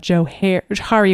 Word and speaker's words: Johari: we are with ourselves and most people call that the joari window and it actually is pronounced Joe hary window because it